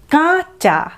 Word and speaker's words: কাঁচা: কাঁচা কথাটির অর্থ হলো পরিষ্কার করা, জামা কাপড় কাচি আমরা, তো সেখানে চন্দ্রবিন্দু নেই, কিন্তু কয়ে চন্দ্রবিন্দু থাকলে উচ্চারণটা হলো কাঁচা, কাঁচা, কাঁচা।